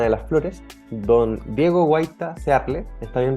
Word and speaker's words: Guaita: libro La caravana de las Flores Don Diego guaita searle está bien pronunciado el apellido Diego perfecto Diego no solo